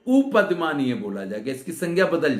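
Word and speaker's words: उपध्मानीय: सदृश है, तो इसको उपद्यमानीय संज्ञा मिलती है। उपदमानी, उपद्यमानी नहीं, उपदमानीय है वास्तविक उच्चारण।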